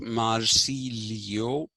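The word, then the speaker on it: Marsiglio: it is written marcy glio it is actually pronounced marcilio and the latin spelling is m a r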